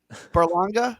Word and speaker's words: Berlanga: Perla I'm not gonna get that right either Berlanga yeah perfect who's also twenty-two years old you